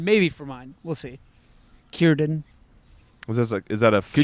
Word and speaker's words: Círdan: Pretty cool to kind of actually meet Círdan and see him. That's Yeah. how it's pronounced.